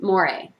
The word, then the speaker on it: mores: what's called amore it's spelled m-o-r-e but it's pronounced moire these are social rules that a society believes has moral significance and deserve harsher sanctions harsher punishments if they're broken so examples of mores in our culture would be things like do